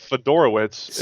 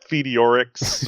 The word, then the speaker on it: Fedorowicz: CJ Fedorowicz, I believe is correct. That's exactly how you're supposed to pronounce it. How did you actually pronounce it? It may have slipped out Fedorix or something like that.